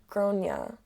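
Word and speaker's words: Gráinne: She asked what it meant, and I said, well, in Ireland, they typically pronounce it like Gronia.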